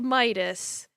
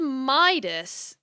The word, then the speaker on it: Midas: it looks it says Midas for English it might be medidas if you're pronouncing it in the classical Greek but the Modern English pronunciation seems to be Midas just going off of